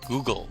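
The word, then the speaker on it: googol: It's actually called Google. It's not spelled like the search engine you use, but it's called Google.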